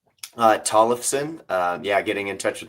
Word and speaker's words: Tollefson: Tollefson.